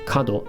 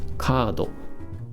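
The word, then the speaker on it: カード: we got here you got the hold the tone marker in there so be careful when you pronounce it it's not cuddle it's kado and what does it mean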